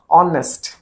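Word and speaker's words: honest: माने कर मु कहली ऑनेस्ट स्पेलिंग कोन एच ओ एन ई एस टी शब्दटा start होची एच उ किंतु उच्चारण कोन हला ऑनेस्ट अ एच टा साइलेंट हैला अ कोन गुटे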